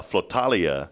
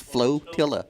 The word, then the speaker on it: flotilla: don't sweat it uh falia of SE did I say it right no it's flotilla flotilla yeah what are you flotillin about over there FL FL flotilla of like a tortilla Kyle's in here he's